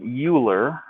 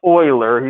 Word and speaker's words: Euler: of leonard euler i know it looks like euler but it's pronounced euler he's german okay this is called euler's number